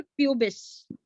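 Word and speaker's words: pubis: और excuse me ma'am, हाँ जी, एक बार दोबारा से रिपीट कर दीजिए तीनों नेम, मतलब हाँ प्रोनाउंसिएशन। मैं बोलती हूँ। Ilium, ilium, ilium, ischium, ilium, ischium और प्यूबिस, प्यूबिस, ठीक है।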